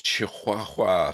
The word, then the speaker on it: Chihuahua: Well, it's Chihuahua, so I've been told the pronunciation is.